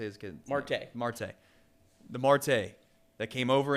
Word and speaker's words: Marte: conversation, is like Elly De La Cruz, the Mortel guy, or Morte. How do you say his kid? Marte.